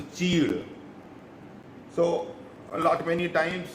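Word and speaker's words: chir: The pronunciation in Hindi is a cheed.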